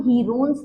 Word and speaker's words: Heron's: देखिए, हेरोन्स formula होता है, सबसे पहले तो मैं बता दूं, इसको हीरोन्स नहीं पढ़ते, बहुत जगह इसका जो प्रोनाउंसिएशन है वो हीरोन्स फॉर्मूला होता है, जो कि बिल्कुल गलत है, हेरोन्स फॉर्मूला।